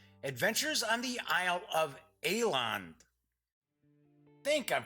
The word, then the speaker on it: Eland: And I've got the dope on Ruin and Conquest, Adventures on the Isle of Eland. Think I'm pronouncing that correctly. It's Ealand.